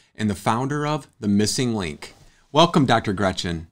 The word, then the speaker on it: MSing Link: the founder of the missing link and that's missing link is how it's pronounced but it's spelled msing than link um